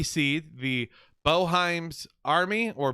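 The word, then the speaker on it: Boeheim: I've heard it pronounced both ways, Boheim or Boheim.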